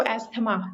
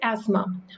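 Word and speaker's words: asthma: after my एज देखिए इसको एथमा जो थ है ये साइलेंट होता है सो इट्स एस्मा after my एस्मा attack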